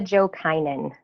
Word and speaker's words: Jokinen: But my honorary guest today is Jokinen. I might be pronouncing that wrong. True North Mediation. I'm sorry. Please help me with your last name again. My name is Jokinen. That's right.